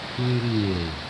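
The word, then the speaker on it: Κύριε: Cuma cara bacanya adalah Kyrie.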